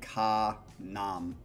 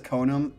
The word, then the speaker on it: Konom: me thank you i it looks like ka nam but it's ko num konam not sure how it's pronounced but to be honest i say konam okay he says konam it to me it